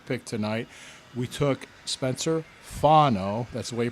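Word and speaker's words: Fano: We took Spencer Funo. That's the way you pronounce his name.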